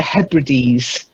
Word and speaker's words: Hebrides: And then in the northern part of Scotland, the islands off the north of Scotland, there's the Hebrides.